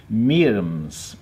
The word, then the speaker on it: Myrmes: It's supposed to be pronounced Myrmes, or something like that, with a sort of slightly French accent. But a lot of people just say Myrmes or something, don't they?